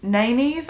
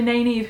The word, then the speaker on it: Nynaeve: Nynaeve, I think is how you say her name, the wisdom from the Two Rivers town that they grew up in.